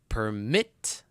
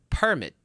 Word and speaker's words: permit: Now we have permit as a verb and permit as a noun.